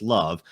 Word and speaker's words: LOVB: League one volleyball or the acronym lovb which is pronounced love how did love start